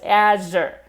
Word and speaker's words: Azure: So you can see I'm also dropping my jaw when I'm starting this sound. My mouth is pretty wide. I mean, I'm exaggerating, but even otherwise, Azure. You can see the jaw drops and then comes back up, Azure. This rounding of my mouth at the end. Pretty attractive, right? Azure, Azure. And from the side, Azure, Azure. My mouth comes out away from my face, Azure.